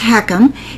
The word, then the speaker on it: HECM: you and I talk what is a home equity conversion mortgage pronounced heckum it's also known as